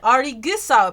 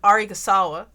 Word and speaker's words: Arisugawa: No, like I know it's Osamu Arigusawa, right? Yeah, Arigusawa, but I kept calling him Arigasawa.